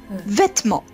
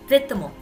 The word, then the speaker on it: vêtements: petit peu vite donc on ne va presque pas prononcer la deuxième syllabe vêtements vêtements comme une française très bien si tu